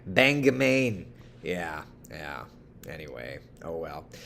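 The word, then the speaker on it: Bangor: Oh, I pronounced it wrong. It's Banga, Maine.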